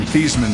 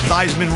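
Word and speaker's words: Theismann: changed his name from thieman to fman to rhyme with Heisman when he was at Notre Dame the perception that is associated with that could turn some people's stomachs I get it thyman rhymes with Heisman even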